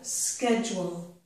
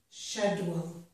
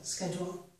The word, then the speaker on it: schedule: In this word, the CH in American English is pronounced K. So this is sk, schedule. In British English, it has a different pronunciation. It's more like sh, schedule.